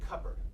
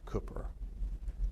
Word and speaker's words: Cooper: Phillips kept saying your name more like Cupper. And I don't know that I can you pronounce your name like it might have been pronounced in Nash County 30 years ago by family and friends? Cooper. Say it again? Cooper. Say foot. Foot? Cooper. Put the sound in between the C and the P.